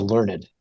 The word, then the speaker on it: learned: we can call ourselves learned. When you can say learned is a 2-syllable word.